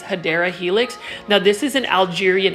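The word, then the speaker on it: Hedera helix: you in the way I pronounce hedra Helix that's really a running joke among um all of the plant foldies um for some reason you guys like me saying that and so I'm going to continue to say it incorrectly the correct way to say English ivy is hadera Helix now this is an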